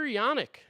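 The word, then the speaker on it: Janek: Walker Yanick. I guess that's how you pronounce it, not Janik. That makes sense.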